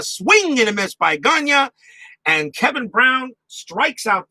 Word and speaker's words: Gagne: Or is it pronounced Gagney? I I I have I've heard announcers pronounce his last name Gagney or Gagne. It's going to be difficult. I'm going to pronounce it Gagne.